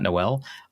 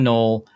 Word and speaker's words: Null: So, um for people unfamiliar, they they drafted Jaylen Null, um which is it's pronounced Null and not Noel. Uh Jaylen Null.